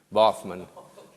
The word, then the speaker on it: Baughman: do you say it bachmann anytime i go to a restaurant i always sign it boffman and then it comes out right well that's the way